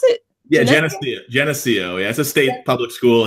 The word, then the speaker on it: Geneseo: from su NY Genesee go how do you pronounce it yeah Geneseo as a state public school here in New